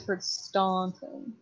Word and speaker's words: Staunton: Staunton oh no the Staunton is how it's spelled but it's one of those like you know you know you're not local when you're you hear the word Staunton okay we always Don interesting well it's kind